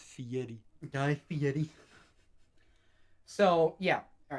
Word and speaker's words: Fieri: and dives okay guy fieri yeah yeah yeah actually you said it wrong it's fiery so yeah all right